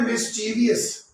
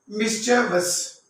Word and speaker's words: mischievous: अब next word जो है हमारा MISCHIEVOUS, इसको अक्सर लोग जो हैं, ठीक है, वो पढ़ते हैं मिस्चीवियस। ये बिल्कुल नहीं है, इसकी करेक्ट प्रोनाउंसिएशन है मिस्चेवस।